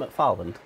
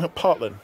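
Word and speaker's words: McPartland: And Ant McParland has said, we owe such a lot. Ant McFarland. Ant McParland. That's it. PH does an F sound. No, there's no H in it.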